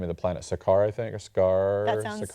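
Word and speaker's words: Sakaar: Sakar I think or scar that's correct. S A K A R I can't pronounce it.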